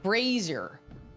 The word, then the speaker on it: brazier: Brazier rhymes with Frasier.